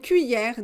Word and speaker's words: cuillère: left à gauche très bien on continue une cuillère des cuillères alors c'est un peu difficile on ne prononce pas le elle parce que quand vous